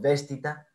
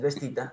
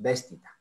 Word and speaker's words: vestita: En el anterior, la segunda palabra es una palabra esdrújula, como seguramente todo el mundo lo dice, yo no lo oí pronunciar, es vestita, porque no es vestita, ¿cierto? Porque la penúltima sílaba, que es ti, termina en una vocal cerrada.